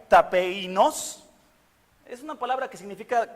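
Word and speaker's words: ταπεινός: La palabra en griego se pronuncia tapeinos, es una palabra que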